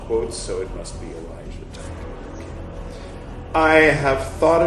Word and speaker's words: Elijah: themselves one in light the other in darkness Elijah that's how you pronounce that climbs down from above and positions